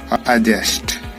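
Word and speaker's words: adjust: और नीचे आपको दिखाई दे रहा है एडजस्ट। तो प्यारे बच्चों, डी के हमने जो साइलेंट रूल है वो 2 समझ चुके हैं,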